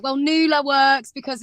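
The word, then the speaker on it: Nu-La: I was like, well, Nula works because it's like, I don't know, it's basically Nawala, but without the A in the middle.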